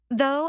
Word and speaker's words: though: Though and although have the ow sound like boat, while thought has the aw sound like bought.